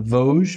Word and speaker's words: Vosges: But kind of talk about how the Vosges, right? Did I say it right? Exactly. All right, the Vosges Mountains affect the rainfall here.